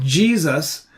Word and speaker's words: Jesus: s is pronounced yesus today's English pronunciation Jesus is very recent probably not older than 500 years anyway of course everyone